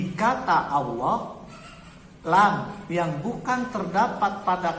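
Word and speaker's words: الله: Ingat, lam pada kata Allah bisa dibaca tebal, bisa dibaca tipis.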